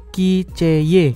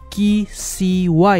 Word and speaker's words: KCY: Dia adalah HT05 Melobuds dari KCY atau KCY ya, bacanya dalam bahasa Inggris.